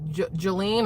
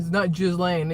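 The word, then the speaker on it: Ghislaine: And Maxwell Maxwell chick Jelene or Jillian or however we're supposed to call her. Not Jlane even though that's how it's spelled.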